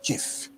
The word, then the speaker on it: GIF: original point the digital image format and its pronunciation is called GIF not g you understand that it stands for